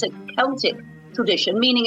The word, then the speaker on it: Celtic: is that in Ireland the word Celtic is typically pronounced with the k sound similar to the British English pronunciation but in America the